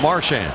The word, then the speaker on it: Marchand: for 4 previous years, he wants everybody to call him Marchand.